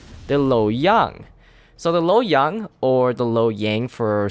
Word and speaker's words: Lo Yang: I just going to call it L Yang because it sounds better and I think that is the proper way of pronouncing this destroyer name.